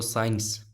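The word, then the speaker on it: science: कुछ हमारे सामने ऐसे लेटर होते हैं, कुछ ऐसे वर्ड्स होते हैं जिनमें सी साइलेंट रहता है। जैसे जैसे ये देखो साइंस, यहाँ पे आप देखो साइंस में क्या करेंगे, ये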